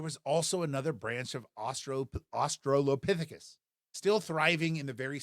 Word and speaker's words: Australopithecus: That's pronounced, again, Australopithecus.